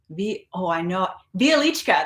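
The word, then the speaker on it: Wieliczka: There's Bialichka.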